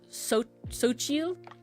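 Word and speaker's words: Xochitl: of tortilla chips uh called sochil and it's spelled like XO my name is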